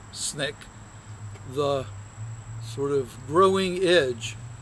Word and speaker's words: SNCC: Student Nonviolent Coordinating Committee SNCC pronounced snake the sort of growing